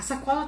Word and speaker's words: sacola: O que eu pronunciei, qual sílaba que eu pronunciei com mais intensidade? Sacola, vem aqui. Eu pronunciei essa aqui. Então, eu consigo dividir em